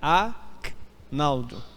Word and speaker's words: Agnaldo: pessoas me chama Agnaldo eu não sou Aguinaldo eu sou Agnaldo muita diferença nisso talvez você não consiga percepção o meu G é mudo é a Naldo não Agnaldo e o nome o